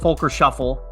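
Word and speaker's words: Volker Schöffl: follow him is at Folker Shuffle but keep in mind it's German pronunciation so his name is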